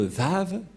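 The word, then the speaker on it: וו: autres et donc on voit ici le lettre vave en épreux en même temps je vous apprends l'épreux pour que vous puissiez bien lire l'hébreu et confirmer que la parole de Elia l'ambassadeur de yahoshua est vrai que ça se prononce vraiment V voilà donc le vave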